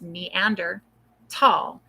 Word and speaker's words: Neanderthal: so chedderman is 10,000 I won't pronounce the h in Neanderthal th it's actually neander all do you know why because neander is the valley and Tall means Valley so it's neander tall is where the first Meander tall was found I do say it